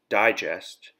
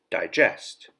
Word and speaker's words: digest: school this week notice that the noun is pronounced digest and the verb is pronounced digest number four establish verb to setup start organize